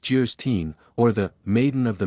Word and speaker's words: Geierstein: it for sale Anne of geierstein pronounced jerstein or the maiden of